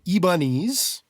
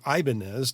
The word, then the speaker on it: Ibanez: five-way switch in it it is an ebonies or Ibanez depending on how you like to pronounce it universe Universe Number 96